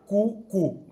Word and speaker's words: QwQ: QWQ, que se pronuncia QQ, ¿no? Como el pajarito, el QQ, que básicamente QWQ es Quen with questions, ¿no?